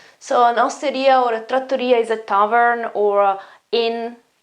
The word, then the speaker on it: trattoria: strong in italian and we have a double t here so the the consonant is longer so they are uh